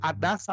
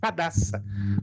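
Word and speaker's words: Hadassa: Adassa ou Radassa, porque no hebraico se escreve com H na frente.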